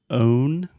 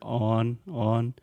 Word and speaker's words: own: pronunciation of course so when you said own the things that you own I almost heard on on and this is something